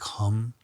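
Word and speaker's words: Ham: want to say and this Mantra is h m but you kind of say it like hum and this is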